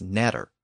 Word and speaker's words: adder: The Old English version of the word was nadra, and in some modern dialects of Northern England, it's still pronounced as natter.